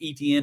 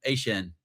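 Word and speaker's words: Etienne: They got rid of, by the way, they don't pronounce it ETN anymore. They call him Ashen or Ashen. Have you heard this? Yeah, it sounds just like Ashen.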